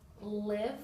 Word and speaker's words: live: the unexpected sounds um we have the word live with the short sound which is I and um the with the long eye okay and the reason